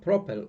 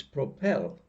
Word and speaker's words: propel: syllable travel okay but if the stress falls on the last syllable and the verb ends in el like in this instance here like propel propel it's not propel it's propel so here we don't